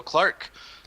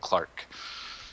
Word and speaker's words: CLARC: So Clark, the history on this one. CLARC. Oh yeah, it's totally not the way you expected to spell it.